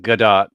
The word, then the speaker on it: Gadot: Gadot.